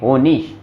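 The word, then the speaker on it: Honig: हाँ, आई जी आ जाए तो उस वहां पे साउंड निकलेगा इश, जैसे कि ये होनिश, ये बना क्यूनिश, ये बना लुडविश, ये बना उलरिश।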